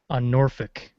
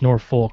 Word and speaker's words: Norfolk: Yeah, I was actually in a barracks on Norfolk, because that's how they say it there, because it's Norfolk, but they say Norfolk.